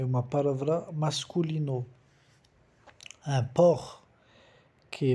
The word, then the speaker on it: porc: Un porc. Que é mais fácil para vocês porque é mais perto do português, um porco, sabe? Le cochon, un porc. Mas cuidado, o C não se pronuncia.